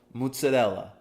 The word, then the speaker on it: mozzarella: the words like in in Italian you would say mozzarella okay in New York